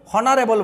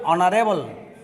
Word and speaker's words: honourable: আমরা এটাকে হনারেবল বলি না, অনুচ্চারিত, এটা এইচটি উচ্চারণ হয় না, আমরা এটাকে বলি অনারেবল।